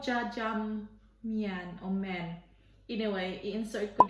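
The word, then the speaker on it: jjajangmyeon: I think it's pronounced as jjajangmen.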